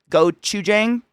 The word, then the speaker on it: gochujang: And I bathed everything in gochujang. Nope, I got too high to say it. Oh no. Gochujang. Burger turkers. Gochujang?